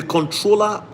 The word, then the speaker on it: Comptroller: The controller, it's called Comptroller, like it's spelled Comptroller, COMP3RO.